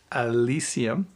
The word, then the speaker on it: Elysium: Elysium.